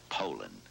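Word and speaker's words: Poulan: for over 30 years they've been mispronouncing so we'd like to remind you that our name is poland and for a tough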